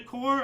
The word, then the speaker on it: corps: 1 century ago, 1926, Italy established a corps of force in order to break powerful unions. So like a corp, like a marine, the Marine Corps, but it's spelled C-O-R-P-S.